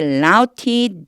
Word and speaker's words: routed: route의 읽기도 route라고 읽어요. routed라고 읽으시면 돼요.